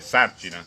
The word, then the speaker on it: Sarcina: l'accento scrivendo il cognome, per evitare che si dica Sarcina, lei mette l'accento, giusto? Sì. Per dire Sarcina.